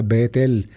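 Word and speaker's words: בית אל: del nombre hebreo Betel en hebreo casa se dice bait y Dios se dice é de cuando se juntan las dos palabras casa y Dios baitel Entonces se pronuncia Betel Betel es casa de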